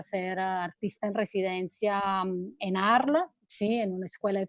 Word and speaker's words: Arles: Entonces, hace algunos años me dieron una beca para ser artista en residencia en Arles, ¿sí?